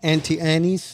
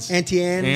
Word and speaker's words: Auntie Anne's: Okay, and then they have an 18 and Vine, travel essentials, things you need, and Auntie Annie's. Is that how you say it? Auntie Anne's.